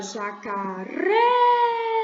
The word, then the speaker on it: jacaré: é jaca sem aí mas tenta Agudo né na última sílaba jacaré relembre-se que tem aí na última sílaba o acento agudo gente Onde vive a